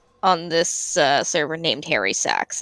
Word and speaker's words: Sachs: Actually, Angrod, there is a guy on this server named Harry Sachs. It's just spelled. Oh no! It's spelled SACHS. Oh, like Saks Fifth Avenue.